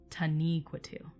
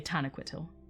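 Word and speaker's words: Taniquetil: it should be pronounced tani quito to neuqua to uh with knee being the emphasis um but you will often hear me say tanakwitil um where i put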